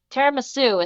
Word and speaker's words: Tiramisu: No, Tiramisu is how you pronounce the desert.